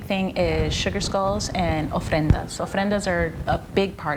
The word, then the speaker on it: ofrendas: a little bit about the ofrendas. Am I saying that correctly? But is there some behind you there? Yeah, so this is the ofrenda that's right behind me, and you are saying it correctly.